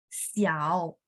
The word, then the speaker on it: xiao: Dia memang bacanya IAU. Misalnya contoh xiao, xiao kecil contoh ya. Dia akan tulisnya IAO, padahal bacanya IAU gitu ya.